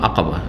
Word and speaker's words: আকাবা: এটাকে অনেকে কিন্তু ভুল উচ্চারণ করে, আমাদের দেশের লোকেরা, শুধু লোকেরা না, অনেক মাদ্রাসা পড়ুয়ারাও ভুল উচ্চারণ করে, কারণ ওস্তাদ থেকে ভুল শিখেছে তো কী করবে। জামরায়ে উকবা বলে, আকাবাকে কি বলে? উকবা বলে অনেক, আকাবা ঘাঁটি।